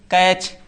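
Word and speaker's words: catch: कैच।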